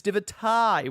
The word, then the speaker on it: Divitae: I mispronounced their name as Divitae before because when I see T-A-E, I always think Tay, but it is Divitae, which I will be endeavoring to say correctly throughout this video.